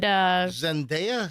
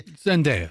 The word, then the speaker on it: Zendaya: Oh, and Zendaya? Is that how you say it? Zendaya? How do you? Zendaya.